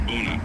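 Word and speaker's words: ቡና: In Ethiopia coffee is known as buuna, pronounced buuna.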